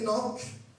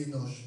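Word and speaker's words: Hénoch: c'est la même chose éoc ou éoche avec ch ou avec un simple C à la fin amen amen tout dépend de la prononciation moi je dis éoc amen amen et quand on va dans Hébreux je dis Énoch mais c'est la même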